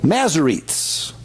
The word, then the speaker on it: Masoretes: other languages now correctly because they've got a pronunciation guide now. These groups were called Masoretes.